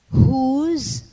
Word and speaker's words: whose: whole spelled w-h-o-l-e whose spelled w-h-o-s-e and whom spelled w-h-o-m and their compounds are exceptional for in this words the w is silent in their pronunciation let's practice the following